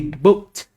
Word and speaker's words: booked: So another word that is book. So it ends with K. When we add ed, it will be booked.